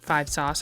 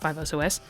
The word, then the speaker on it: 5SOS: A common discussion when it comes to 5 Sauce, which is the acronym for the band, it's pronounced like 5 Sauce and not 5 SOS.